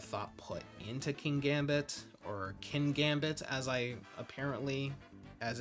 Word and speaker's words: Kingambit: So Bishop's evolution feels a bit obligatory, and while there's a lot of thought put into Kingambit, or Kingambit as it's apparently pronounced, I'm not totally sold.